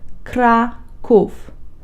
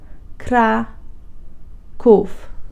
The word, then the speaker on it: Kraków: to pronounce word Krakov this word has two syllables crack oof craw cough practice is key to